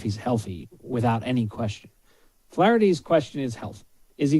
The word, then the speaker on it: Flaherty: trouble with pronunciation sometimes his name's flaherty flaherty but when you say it's flattery it's a flattery will get you everywhere it's good i think i think that flaherty is the way to go between